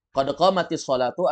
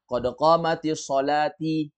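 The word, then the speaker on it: قد قامت الصلاة: Jadi bacanya qad qamatis sholatu. Qad qamatis sholatu. Jangan dibaca qad qamatis sholati. Qad qamatis sholat. Ini ketawa orang Arab kalau dengar ini. As-sholatu itu barisnya baris dhammah, bukan ti, bukan kasrah.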